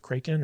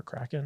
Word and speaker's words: Kraken: And at the end of this movie, when Jack Sparrow gets swallowed by the Kraken or Kraken, however you want to pronounce it. The original Scandinavian. Kraken.